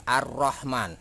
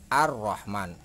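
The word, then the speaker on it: الرحمن: sini ada tasdid seperti ar-rahman nah ini this dibacanya adalah ar-rahman alifnya dibaca jelas lainnya tidak dibaca yang dibaca adalah roknya karena ada tasdid kena untuk mengetahui tasydid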